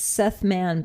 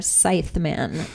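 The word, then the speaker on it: Seith Mann: And it's directed by a guy whose name I want to pronounce Seth Man, but it looks like it's more Scythe Man. Seith. Maybe that's Seth.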